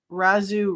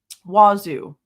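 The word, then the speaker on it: Wazzu: Blank did not share any social media with Cobberger, but said Coberger often referred to the Razu Reddit page. Wazu, I said it wrong. Wazu Reddit page.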